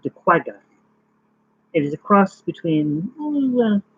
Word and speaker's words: quagga: It is commonly just called the quagga, which is pronounced quagga, if you want to pronounce it correctly, a name, a name that refers to the sound of its call.